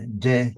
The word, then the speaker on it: De: And the De, Tao Te Ching, Ching just means the scripture. The De, pronounced D-E, but it's spelled T-E often, means the inner power.